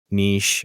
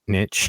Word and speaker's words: niche: Yeah, find your own niche. Apparently, That's the niche description. is the Like historical pronunciation that is more interesting. popular in the U.S. Niche came about likely under influence from French pronunciation. So I can it's see that. kind of whatever, and it's more popular in It- the UK. it depends on apparently. where you grew up.